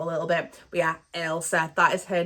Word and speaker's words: Elsa: First, I want to say sorry because I was pronouncing Elsa as Isla last week, and I did not mean to do that. It's Elsa.